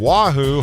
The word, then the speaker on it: Oahu: Officials say the Russian intelligence ship was about 15 nautical miles south of Oahu, Hawaii. Kind of rhymes with Yahoo.